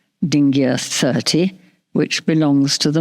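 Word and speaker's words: dingir: Um the name of the sign is pronounced dingia and written as superscript d as you can see on this slide.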